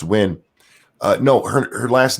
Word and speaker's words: Nguyen: Golf City Cult of Krill says it's Nguyen. It's pronounced Win.